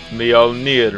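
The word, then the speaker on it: Mjolnir: they don't my number seven is Halo 2 Mio near mix and surprisingly I am pronouncing that right I looked it up see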